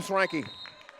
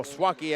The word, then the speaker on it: Swaki: couldn't handle that one from swanki oh swaki I believe that is a proper pronunciation my apologies Destin Haley